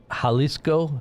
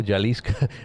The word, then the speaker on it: Jalisco: Halisco. Halisco. Jalisco. See, I'm I'm pronouncing it wrong.